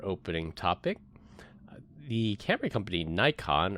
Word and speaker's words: Nikon: All right, for our opening topic, the camera company Nikon, or I think in Japanese it's pronounced Nikon, is going to end development on their high-end DSLR cameras.